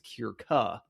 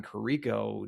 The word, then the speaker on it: Kierka: Now it's Kierka. So that's like a different number of syllables in the name.